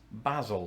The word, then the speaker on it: Basil: know a person's name i call this basil like basil faulty basil for sure for sure brochure doesn't